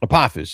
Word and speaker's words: Apophis: Is it Apophis? Apophis, yeah. So in Egyptian mythology, Apophis is a god, but the reason why I have that name in the book is that the character that is now Apophis actually had a different name to begin with